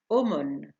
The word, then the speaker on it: aumône: حرفي AU تعطي صوت O كما في aumône صدقة.